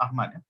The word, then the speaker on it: Ahmad: I mean, I found it so poignant, you know, the way Pak Ahmad, that's how it's spelled, the AHA, but it's pronounced Ahmad.